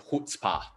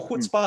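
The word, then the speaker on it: chutzpah: what i like to call it as a hood spa right so it's spelled as c-h-u-t-z p-a-h so who spa is really that kind of attitude which is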